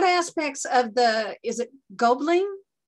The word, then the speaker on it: Gobelin: Pamela Fletteau, I think is how you pronounce it. What aspects of the, is it Gobelin? Gobelin.